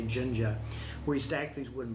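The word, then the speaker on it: Jenga: I think it's called Jinja j-e-n-g-a and I think it's it's not Spanish I think it's a you pronounce the J Ginger where you stack these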